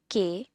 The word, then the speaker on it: qué: Now here the word que will be pronounced as QUE.